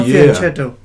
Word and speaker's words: fianchetto: Because on the first instance, it sounded to me like if you're trying to pronounce fianchetto, but no, it's not fianchetto.